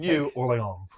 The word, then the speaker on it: New Orléans: The way that the campaign narrator from Age of Empires 2 narrates Orléans in the Joan of Arc campaign. It's very specific. New Orléans.